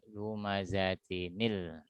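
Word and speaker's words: لُمَزَةٍ الَّذِي: Ketika ada tanwin yang menjumpai hamzah wasal, maka dia dibaca dengan hukum nun wiqayah, ya. Lumazatin ketemu hamzah wasal. Lalu di sini akan lahir nun wiqayah, ya. Jadi dibacanya lumazatinil, ya. Cara membacanya dengan melahirkan nun wiqayah.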